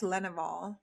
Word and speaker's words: Lenouvel: So excited to have Lenouvel. Did I pronounce that correctly?